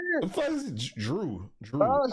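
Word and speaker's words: Jrue: Drew, that's how you say it? Drew. Yeah, Drew with a J.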